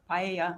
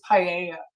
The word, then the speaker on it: paella: be used to cook paella. I'm not sure if that's how you pronounce it at the party. It's pronounced paella.